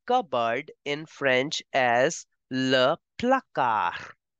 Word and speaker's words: placard: You say shelf or cupboard in French as le placard. The D in the end is for decoration.